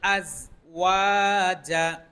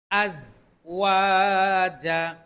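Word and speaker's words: الْأَزْوَاجَ: পড়বো ইনশাল্লাহ সুবহানাল্লাজি খালাকাল আজওয়াজা সুবহানাল্লাজি খলাকাল আজওয়াজা আজওয়াজা এই জায়গাটাতে অনেক বেশিরভাগ মানুষ ভুল করে আজ ওয়াজা বলে আজ ওয়াজা কুল্লা মিম মাতুম বিতুল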